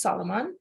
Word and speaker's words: SLMN: So Moe Sulaiman, he's known as SLMN and pronounced Solomon, is a Juno Award-winning